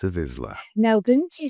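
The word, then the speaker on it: Vizsla: The correct way to say it which most people don't is Vizla. Vizla. Vizla. V I Z or V I Z S L A.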